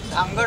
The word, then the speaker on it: धनगड: भारतीय राज्यघटना आहे आणि धनगड ज्याची स्पेलिंग DHANGAD अशी आहे, तर त्याचा हिंदी म्हणजे उच्चार धांगड होतो, परंतु जो धनगर समाज आहे तो धनगड असा उच्चार होत आहे।